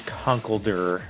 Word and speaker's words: Conkeldurr: really throwing me off the con keldar especially or the way I like to pronounce him though is Conkeldurr get that Durer at the end anyways I'm bringing